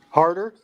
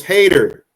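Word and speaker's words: Hayter: how did you say her name? Harder? It's Hater.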